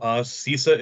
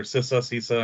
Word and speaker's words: CISA: So for those that don't know, CISA is a subdivision of the, or CISA, I've heard it pronounced both ways, is a subdivision of the